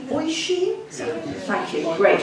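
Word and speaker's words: Oisín: Right, this is where I've got to apologise both to Japanese and Irish pronunciation. Oishin? Thank you, great. Oshin.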